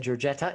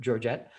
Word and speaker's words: Georgette: um and i apologize i mispronounced your name i said georgetta it's george dr dr georgette um what are what